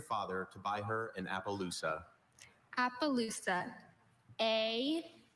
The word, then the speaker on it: Appaloosa: Appaloosa. Also, Appaloosa.